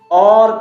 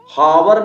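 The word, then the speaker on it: hour: अगला एग्जांपल देखिए, एच है, इसका फोनिक साउंड क्या है, एच का यहाँ पे साइलेंट है क्योंकि ओ के पहले आया। और पढ़ेंगे, क्या पढ़ेंगे, और, हावर नहीं पढ़ेंगे, हावर, हावर। ये गलत है रे मेरे भाई।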